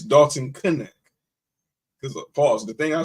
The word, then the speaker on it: Dalton Knecht: And I apologize that I mispronounced his name wrong, but it's Dalton Knecht.